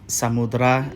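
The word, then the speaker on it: Samudera: And sometimes E just isn't pronounced, like in Samudra and Sumatra.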